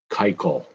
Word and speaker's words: Keuchel: Dallas Keuchel. Saying it right, even though it's spelled Keuchel. It's not pronounced that way.